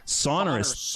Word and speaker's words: Sonorous: Sonorous.